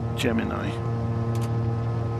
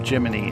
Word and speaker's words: Gemini: we can go and ask gemini or geminy if you're American I I understand that's how you say it so we could